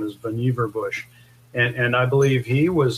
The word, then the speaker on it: Vannevar Bush: name is pronounced strangely people usually call him Vannevar bush because that's how it's pronounced phonetically but his actual pronunciation of his name is boniva bush and i believe he